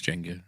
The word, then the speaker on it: Jenga: play Jenga play Jenga interests in fact I pronounce it Yangon until the age of about 21 when some he corrected me and said it's Jenga and I didn't believe them until because the